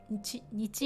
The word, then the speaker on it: 日: So 日 not this he. Oh, says he as in, let's see. If you say いい日, for example, means good day. Okay, so again, this is just pronounced with 日.